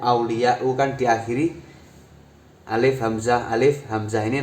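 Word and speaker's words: أولياءُ: Membacanya tidak boleh ulamaun, auliyaun, ini tidak boleh. Membacanya harus ulama'u, auliya'u, karena isim ghairu munsharif adalah isim yang tanpa tanwin.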